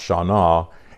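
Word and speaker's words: Shannah: So I found Hebrew, the Old Testament 81:38 word, Shana, S-H-A-N-N-A-H, and it's pronounced Shana, and it means to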